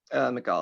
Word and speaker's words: Mikal: Michael Bridges, is that how we say his name? McCall, I think. Mikal Bridges, yeah.